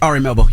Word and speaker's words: Ari Melber: with RI melbour am I saying it right Ari melber yeah Ari melbour uh during Miami art week